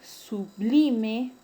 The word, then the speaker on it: sublime: El término sublime es grave porque su mayor fuerza de voz está en la penúltima sílaba.